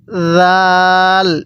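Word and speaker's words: ذال: এরপরে এই হরফটির নাম জাল। স্মরণ রাখবেন, জালটাও নরম আকারে পড়তে হবে।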